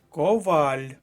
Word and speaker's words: коваль: курятина перша колонка курятина Коваль наголос на другому складі Коваль друга колонка другий